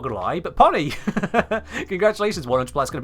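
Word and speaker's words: Pohnny: about it that's that's supposed to be pronounced Pony isn't it because that's p o h NN y so it's like Johnny but with a P pony that's a that's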